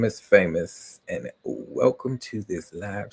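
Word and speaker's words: Faymous: My name is Famous, and yes, that is my real name. And as you can see over right there. You can see that they um the name is spelled different, so f a y m o u s.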